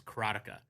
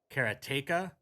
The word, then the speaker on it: Karateka: with uh I pronounce it and I've always pronounced it you're going to hear me say this all the time is ctica but then I've heard people say karaa keratea and Kara in other ways but uh Kaka is the way I've said it and I